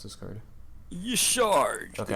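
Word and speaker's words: Y'Shaarj: you pronounce this card you shard okay i also say some people say yash raj but i say you sure okay it's a 10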